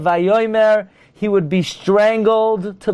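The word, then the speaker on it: וַיֹּאמֶר: If a Bal Koire would dare say Vayoymar instead of Vayoymer, he would be strangled to the floor.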